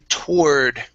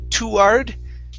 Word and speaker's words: toward: um next is uh toward okay so instead of saying too hard okay it's tour toward god okay so uh less emphasis on the on the the the to so here you're saying